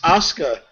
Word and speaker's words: Asuka: Apparently, it's pronounced Asuka.